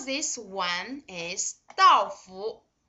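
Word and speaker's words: 倒: Okay, this Dao, the pronunciation of this Dao is similar to this one.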